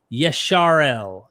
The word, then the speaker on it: Israel: Samaritans today pronounce reading the Torah today Israel as Yesharel.